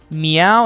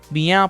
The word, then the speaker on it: MEOVV: Their name stands for my eyes open wide, but the double V is obviously representing a W.